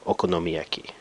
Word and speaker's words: okonomiyaki: 5 six different sounds so it's a six syllable word at least by Japanese syllable standards and this sound is o noaki or okonomiyaki now this is actually